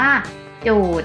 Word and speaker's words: โจทย์: สะกด เท่า นั้น ค่ะ เหมือน คำ ว่า โกรธ คล้อง จอง กับ คำ ว่า โจทย์ นะ คะ ถึง แม้ จะ มี ย ยักษ์ การัน แต่ เรา จะ ไม่ ออก เสียง นะ คะ อ่า คำ สุด ท้าย